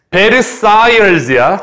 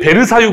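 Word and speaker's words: Versailles: 베르사이얼즈야. 원래 우리가 베르사유 궁전이라고 한국말로 이렇게 한 거고요. 원래 발음은 따라하세요. 베르사이얼즈.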